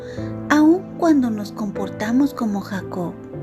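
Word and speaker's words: יעקב: En hebreo, el nombre de Jacob se pronuncia Jacob. Suena como la palabra Acab, que significa agarrar el talón o engañar.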